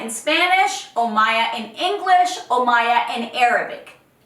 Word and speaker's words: Omaya: It's Omaya. It's not Sumaya. It's not Omaima. It's not Omaya. It's not Amaya. It's not Maya. It's Omaya. Omaya in Spanish, Omaya in English, Omaya in Arabic.